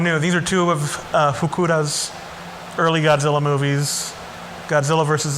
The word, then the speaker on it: Fukuda: in 1966 they hired jun fukura and that is pronounced fukuda he was an action